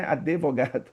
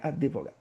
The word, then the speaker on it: advogado: Ou às vezes tem gente que coloca até o e, né, advogado, mas não tem. Então a gente coloca na nossa fala a vogais até onde que não tem. Então a pronúncia será correta seria, né, advogado. Advogado. Não pronunciar o, né, a vogal, porque não tem a vogal.